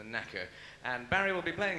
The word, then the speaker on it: naker: No, really, it might be pronounced naker, but we prefer to think of it as a knacker.